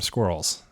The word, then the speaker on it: squirrel: I didn't know that actually, because squirrel rhymes with girl.